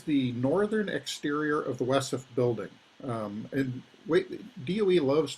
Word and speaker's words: WESF: northern exterior of the wessef building and wait doe loves to use acronyms and so the waste encapsulation storage facility w esf is pronounced as an acronym wesson um quite commonly it is